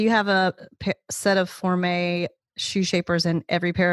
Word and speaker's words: Formé: And then you spell it Forme. So we refer to it Formé Shoe Shapers.